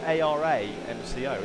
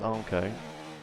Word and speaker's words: Armco: Yeah, it's like in a blue kind of rectangle with white outline, and it's white text saying you'd think it'd be pronounced Aramco, like Aramco. But yeah, pronounced Armco.